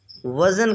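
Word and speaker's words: weigh: की इंग्लिश है मेजर वजन करना वे यहां पर जी साइलेंट है मुवाजना करना कंपेयर कंपेयर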